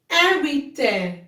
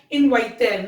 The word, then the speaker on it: inviter: Inviter. We will not say it as inviter. No. It's inviter.